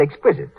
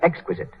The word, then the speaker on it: exquisite: runs is positively miraculous Mary Jane's mother said Exquisite she should have said Exquisite as for example every